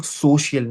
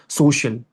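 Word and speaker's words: social: पे ध्यान देना है, that you were saying सोशियल ना, सोशियल. जैसे कई लोग सी पढ़ते हैं और कई लोग सोशल पढ़ते हैं, तो थोड़ा सा इसका प्रोनाउंसिएशन मुझे थोड़ा सा लगा कि मेस्ड अप हो गया था. सो इट्स सोशल, है ना.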